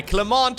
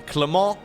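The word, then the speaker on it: Clément: But anyways, they get a little bit upset whenever I pronounce the T in the name Clement. Clement.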